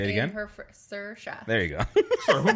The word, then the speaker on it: Saoirse: Shersha is Or Saoirse. Sir, like sir, and then Shah. Saoirse. There you go. She is Say it again? Saoirse.